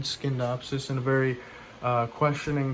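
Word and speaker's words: Scindapsus: believe on uh my last video I said skinnedopsis in a very uh questioning tone and I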